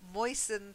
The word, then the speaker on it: moistened: Okay, and then moistened has a silent T.